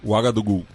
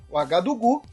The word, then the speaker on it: Ouagadougou: Você que pronuncia de forma impecável. Ouagadougou. Ouagadougou.